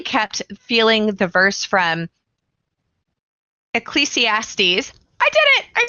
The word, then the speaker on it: Ecclesiastes: And as we were sharing this episode and having this conversation, I really kept feeling the verse from Ecclesiastes. I did it. I said it right. I always mispronounce it even if I practice ahead of time.